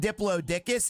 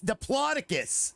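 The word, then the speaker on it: Diplodocus: It's not Diplodicus. It's Diploticus.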